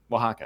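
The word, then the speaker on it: Oaxaca: a x o a o a x a Waka holy hey wakaa I need to be able to spell that cheese to eat it what are you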